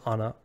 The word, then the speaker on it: Ana: it be known that it is Anna as the proper pronunciation all right there she